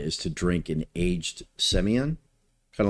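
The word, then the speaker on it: Sémillon: side in Australia is to drink an aged Semillon, kind of like Bordeaux. If you were to drink an aged Bordeaux Blanc, Semillon is the grape. Is the grape, or as the Aussies call it, Semillon.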